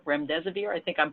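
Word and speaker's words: remdesivir: you've probably heard about the most is the REM des abeer REM des abeer I think I'm pronouncing it correctly this is a new antiviral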